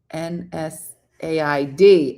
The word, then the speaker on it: NSAID: It is pronounced N said.